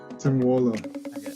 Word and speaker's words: Tim Waale: Today we're speaking with Danish-Vietnamese basketball player and 2019 VBA champion, Tim Waale. Is that how you pronounce it? Yeah, Tim Waale. Oh, correct pronunciation.